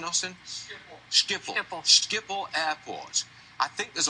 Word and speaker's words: Schiphol: What was the pronunciation, Austin? Schiphol.